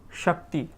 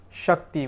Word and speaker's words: Shakti: Sh. Sh. Sh. So for example, we have Shakti. Shakti, which is power, strength, often associated with feminine power, feminine energy. Shakti. So Sha. Sha. Sha.